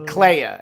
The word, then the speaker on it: Clea: Clea.